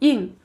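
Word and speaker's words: 硬: This word is pronounced as ying.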